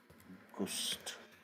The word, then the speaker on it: August: August, it is written same, exactly same spelling like in English, but we pronounce it as August. So that's August, August, August.